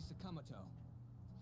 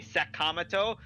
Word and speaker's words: Sakamoto: In Japan, they don't stress syllables as hard as we do. So, like, in the way they're pronouncing it in the game, each syllable, like, no syllable stands out over the other. But when you say Sakamoto, we're putting more stress on the first syllable. Which is apparently not a thing that they do in Japanese.